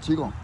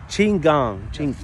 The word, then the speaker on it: Qigong: Because I pronounce it wrong all the time. What we're doing. The Qigong. Qigong. Qigong.